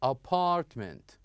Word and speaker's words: apartment: example, here we have word that has second syllable. So not at the beginning, not the first syllable, but the second syllable. For example, here we have apartment, apartment. Okay, and here we have